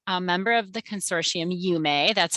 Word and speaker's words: UME: So we're a member of the consortium UME. That's how it's pronounced.